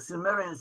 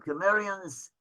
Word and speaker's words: Cimmerians: So one group of the Cimmerians, or sometimes they're pronounced the Sumerians or Cimmerians, so one group of